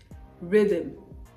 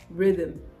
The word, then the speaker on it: rhythm: our ghost ghost ghost rhythm rhythm Rhythm right the H is not to be pronounced so I got this